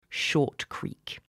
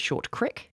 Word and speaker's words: Short Creek: Also, some people pronounce it Short Crick, but I'm not going to do that because I think it's dumb. It's written creek. Might be an accent thing.